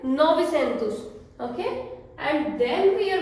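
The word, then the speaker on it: novecentos: Next is the number 900, 900, 9 को हम बोलेंगे novi, 100 को बोलेंगे centus, so novicentus. We have 900, Portuguese में novicentus, okay?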